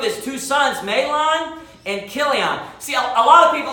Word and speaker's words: Chilion: 95% of the time, it's going to be a ch sound, like Chaldean. So this is Chilion is actually how you pronounce that. So Chilion, and it says Ephrathites of Bethlehem, Judah.